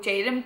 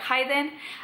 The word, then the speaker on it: Jayden: a piece of paper, I'm certain a Spanish person would be like Hayden, and I don't like it pronounced like that.